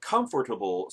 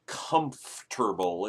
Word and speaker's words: comfortable: it's not a comfortable comfortable will you ever noticed people lead that off that middle syllable it's not comfortable it's comfortable anyway not a comfortable pill